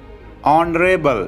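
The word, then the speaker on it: honourable: Dress उद्देश्य mission या गोल उपयुक्त सूटेबल माननीय ऑनरेबल इसमें एच साइलेंट है।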